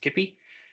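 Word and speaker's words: Kipoi: He obtained his PhD from the Technical University in Munich, where he developed Kippy, even though it's spelled Kippoi, I think it's pronounced Kippy, and BPNet to advance our understanding of DNA sequences and transcription factor binding.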